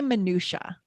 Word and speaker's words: minutiae: How do you say minutia or minutia? I say minutia. Okay, I've heard both. But minutia, I think I hear more often with that soft I, minutia.